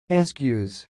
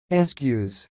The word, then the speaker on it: Eskew's: how pronounce this word the pronunciation of this word is sounds like excuse excuse and I will repeat again but slowly ask use ask use that's all thanks for